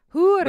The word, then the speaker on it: hor: It's H-O-R, whore. Whore. Hoor. Are you it's H-O-R. Are you rolling the R? Hoor. Hoor. Yeah, you're rolling the R. You can say it normally. You don't always have to roll your R.